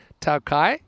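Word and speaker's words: Tokaji: bowl thank you vivek for your information says takaji one is actually pronounced taokai and it's dessert wine i'm gonna say i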